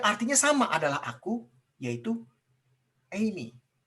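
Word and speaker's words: εἰμί: Tapi ada satu bahasa Yunani lagi yang artinya sama adalah aku, yaitu Eimi. E-I-M-A-I. Bacanya Eimi.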